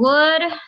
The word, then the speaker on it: would: Terus juga ada I would. Jadi I'd. Okay. Jadi ini you'd itu you would ya. Yeah? Kalian bisa ngomong you'd. Would itu kan tulisannya gini tadi kan? Would. Nah, ini dibacanya would. Kayak W-U-D.